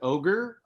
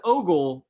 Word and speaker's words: Ogle: Well, you know, I've gotten all kinds of pronunciations. My favorite is Ogre, which a lot of teachers used to call me when I was a kid. Just take it. But it's Ogle, but I honestly prefer Ogre, so I'm thinking about changing it.